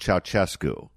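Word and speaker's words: Ceaușescu: I think the name is pronounced Ceausescu.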